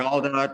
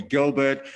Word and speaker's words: Geldart: It is actually pronounced Mm, Geldart, but I don't really care. A lot of people say okay. Geldart. A lot of people call me Gilbert.